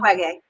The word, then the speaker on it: Mukwege: Mukwege, Mukwege. Mukwege. Thank you, Mukwege. Don't worry, it took me years to pronounce I it.